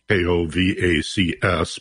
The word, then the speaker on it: Kovacs: And I'd like to mention that your name Kovacs is spelled as if it were Kovacs, Kovacs, but it's pronounced Kovacs.